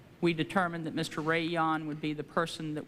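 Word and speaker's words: Jahn: The recommendation of the Criminal Division was that that would be Mr. Ray Yan. I believe the last name is spelled J-A-H-N, who had had extensive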